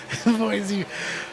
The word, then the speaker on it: Boise: Boise.